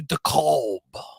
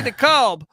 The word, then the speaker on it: DeKalb: This guy's it's a good show, but that idiot doesn't know how to say DeKalb. I feel like Midwesterners aren't capable of silent letters.